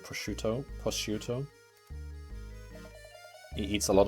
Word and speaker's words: prosciutto: right that sounds dodgy prostitute if you say it wrong prostituto prostituto how can you pronounce that without it sounding like prostitution prostituto that's how you pronounce it right posterior do you print it was i pronouncing it quickly prosciutto is that you pronounce it prosciutto oh okay yeah